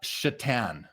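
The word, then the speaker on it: Šatan: that card a lot Miroslav chatan his his last name is spelled Satan s a t an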